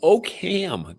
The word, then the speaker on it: Oakham: So you are on site in Oak right? No. Okam. There's a ham in oak. Do they really? Do they really pronounce it that way? Okam.